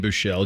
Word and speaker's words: Buechele: The second E is silent.